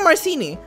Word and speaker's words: Marcini: Marcini. What is your last name? Marcini. The actual pronunciation is Marcini. But we say Marcini because a lot of people can't pronounce Marcini for some reason.